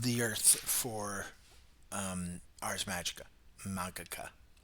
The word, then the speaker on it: Magica: Magica. I gotta get rid of that soft G.